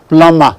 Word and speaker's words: plumber: That is remember it is the plumber, not plumber, plumber. The B is silent.